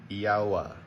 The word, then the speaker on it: Yahweh: name of the Father, how do you pronounce it? Yahweh. Anybody who speaks Hebrew will say, oh, well, you're not putting the vowel points on that word.